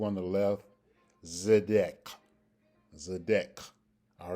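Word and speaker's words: צדק: And they are pronounced again, starting with the one on the right, Zidquateca, and on the number 2 on the left, Zedek.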